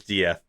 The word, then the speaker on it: Death: And Mel, yes, his name is Dieth, but it is spelled death.